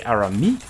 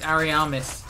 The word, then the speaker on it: Ariamis: I would say Arami. No, it's Ariamis. There's an extra syllable in there. If you Arami, you're missing a syllable.